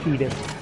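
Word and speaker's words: Tidus: Yeah, we have to pronounce it Titus. That's apparently the correct way.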